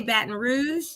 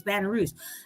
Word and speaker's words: Baton Rouge: And and so she's in, and I say Baton Rouge. She says, you keep saying it wrong, Becky. And I'm like, well, what is it? It's Baton Rouge. No, we call it Baton Rouge. They don't say rouge, they say rouge.